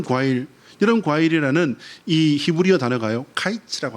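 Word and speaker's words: קיץ: 카이츠라고 하는 단어입니다. 이것은요 끝이라고 하는 끝 마지막이라고 하는 단어와이 발음이 비슷해요. 카이츠와 캐츠가 비슷 여러분 광줄이 이것이 뭐냐면요.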